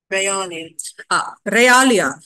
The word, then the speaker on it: realia: A L I A I checked for the pronunciation you call you can also check for the pronunciation it is um it is actually um one second yes Ralia that pronunciation for that is Ralia Ralia is nothing but